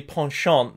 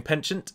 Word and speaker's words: penchant: free peoples and saying now the pawnshop that is that's how you pronounce this word if people were saying penchant its pawnshop canden her ad having their cavalry Archer